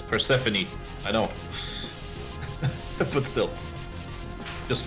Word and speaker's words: Persephone: Oh, it's Persephone. I know. But still. Just fun to pronounce it wrong.